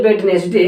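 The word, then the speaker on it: Wednesday: आज है वेडनेसडे, आज तो वेडनेसडे है, आज वेडनेसडे नहीं, वेडनेसडे नहीं होता, वेडनेसडे, वेडनेसडे यानी ये साउंड रखता है WENZDA, वेडनेसडे, ध्यान रखना, इसमें भी डी साइलेंट होती है, ध्यान रखें।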